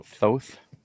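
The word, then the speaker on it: Thoth: According to Cambridge, it's uh like oath but th out front.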